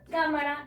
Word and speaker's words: cámara: Cámara. Si estuviera aquí la sílaba tónica, sonara cámara. Si está aquí, sonara cámara. Aquí, cámara. Por lo tanto, la sílaba tónica se encuentra en K y el resto de ellas serán átonas.